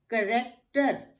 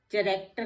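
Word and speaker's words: character: करेक्टर, अब करेक्टर भी कहाँ आ गया हमारा सी, ये फिर हमारा सी जो आ गया है एच से पहले आ गया है, और ये हमारा यहाँ पे भी एच साइलेंट हो गया।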